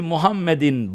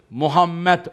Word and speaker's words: Muhammed: Hazreti Muhammed'in babası, dedesi, Peygamberimizin doğduğu ev vardır hemen Kabe'nin avlusunda.